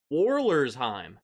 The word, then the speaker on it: Wollersheim: Number 1, Wallersheim Bourbon, 4-year bottled in bond, Prairie du Sac, Wisconsin. That's exactly how you say it. Wallersheim.